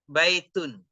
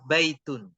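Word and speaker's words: بَيْتٌ: lihat baitun bnya fathah cara membacanya bnya di Fathah ya-nya di sukun terus huruf terakhirnya di tanwin baitun baitun J misalnya nanti kalau enggak ada harakatnya jangan kita merasa sulit baca aja baitun terus masjidun mimnya di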